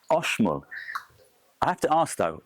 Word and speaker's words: Oxmul: Right now all this time I've been saying this is the oxal coffee farm. That's because it is spelled o x but actually it's oshol. There is no x sound in the Mayan language.